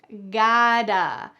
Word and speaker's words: gotta: You can pronounce this gotta. In American English, the T changes to a D.